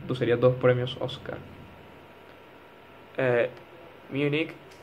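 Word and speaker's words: Múnich: serías dos premios oscar munich en español cuando se traduce literal habría que ponerle el acento en la u es una palabra grave para la región destitución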